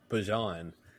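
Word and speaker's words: Bijan: Oh, it's Bjon. Oh. Oh, okay. I did see something about Yeah, it's not Bejon. It's not It's not Bjon mustard. It's Bjon.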